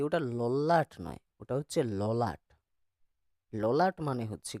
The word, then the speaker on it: ললাট: এইবারে তুমি ওই লল্লাট আর যাত্র উচ্চারণটাকে ঠিক করে পুরো সেন্টেন্সটা উচ্চারণ করো। ললাট লিখিত খণ্ড না যাও যায়।